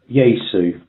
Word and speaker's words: Yaesu: Yesu. Yesu. Right. Yeah, it's spelled Yaesu. Yesu.